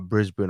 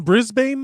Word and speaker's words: Brisbane: 2022 kumutay which is obviously taking place in brisbane australia and they have a local correspondent correspondent